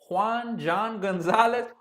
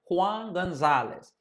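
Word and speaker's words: Juan González: And some of these names I'm pronouncing them in the English way, but don't worry, I'm gonna start pronouncing them in Spanish. So the hitting coach, Juan Gonzalez. John Gonzalez, Juan Gonzalez. The hitting coach, I believe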